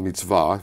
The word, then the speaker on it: mitzvah: And it happens that Judaism has always had this concept, way of life, called mitzvah, using the Hebrew pronunciation, Okay.